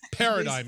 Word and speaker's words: Paradigm: Paradigm, everybody. It's Paradigm, not Paradigm.